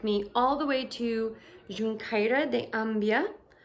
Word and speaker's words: Xunqueira de Ambía: So that lovely gentleman took me all the way to Xunqueira de Ambía, which is apparently how they say it in Gallego. I don't know how they say it in Castellano.